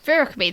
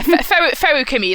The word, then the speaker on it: Feruchemy: You're like, yeah, Feruchemy, like alchemy, but with ferrous for like iron.